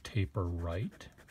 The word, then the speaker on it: Taperite: Now, is it Taperite? Is it Taperite? No, it's Taperite.